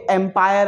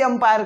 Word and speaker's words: empire: और सुनो, ये एम्पायर है ना कि अंपायर, ठीक है। इसको बहुत लोग मतलब प्रोनाउंस ही अंपायर करते हैं।